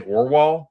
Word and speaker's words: Aarvoll: What The pronunciation Orwall is really how like my screen name should be pronounced if we were all Norwegian.